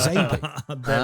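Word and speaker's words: XABY: manual where it said, Zabi is phonetic. It's related to the SNES controller. You have to press X-A-B-Y, which will be pronounced Zabi.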